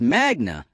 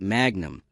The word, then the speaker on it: magna: You said magnum come loudy in your introduction, but you pronounced magna wrong. It's magna, not magnum. Latin stress patterns fall on the penultimate syllable when it contains a long vowel.